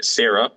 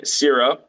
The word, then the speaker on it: Syra: So, as you already said, you were playing Sarah. I always say Sarah. I don't know It's Syra because there's the my Y, pronunciation.